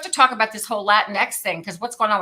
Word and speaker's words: Latinx: Latinx, very good.